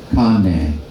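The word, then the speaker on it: kāne: Remember, the E is always pronounced as hey.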